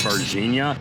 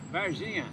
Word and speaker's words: Varginha: Pronounced Varginha correctly according to locals. Varginha.